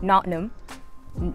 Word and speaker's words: Nottingham: So I'm currently in Nottingham, England, locally pronounced Nottingham.